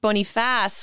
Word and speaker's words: Boniface: not to be that person but it's actually pronounced bony fast which is a napoleon's last name which probably